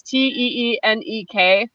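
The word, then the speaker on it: Téenek: I don't know if it's pronounced Tenek or Tenek. It's Teenek, and it's like a 12-bar marimba passage, and it's not repetitive, but it does groove.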